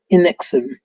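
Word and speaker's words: NXIVM: in suspect suspected cult nexum pronounced enxim the group started as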